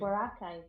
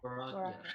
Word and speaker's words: Boracay: I'm gonna miserably pronounce this, but Boracay, Oh, Boracay is an island in the Philippines. Boracay. Yeah, Boracay.